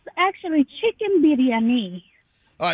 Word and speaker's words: biryani: am I pronouncing the chicken dish is it Biryani how do you pronounce it so it's actually chicken biryani all right oh say it slowly say it